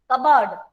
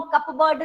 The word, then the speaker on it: cupboard: कबर्ड P है, पर P को हम कपबोर्ड नहीं बोलते, कपबोर्ड, कपबोर्ड नहीं बोल रहे हैं। सो P इज साइलेंट।